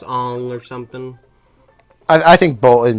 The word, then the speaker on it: Aang: show but i think some people are like really nerdy and they'll be like ong is the correct pronunciation i i haven't seen you no the only okay the uh in the show no it's ang it's always ang however the live-action movie